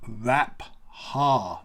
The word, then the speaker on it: Rapha: because it's not pronounced rapha it's pronounced rap ha again it's two syllables often run together rap ha so you